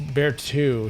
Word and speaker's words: Berthaud: Oh, and it's Berthaud is how you say his name.